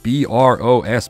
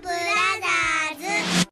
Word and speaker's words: Bros.: Then these poor misguided children who think B-R-O-S period is pronounced bros will get it right, for once. Super Mario Brothers!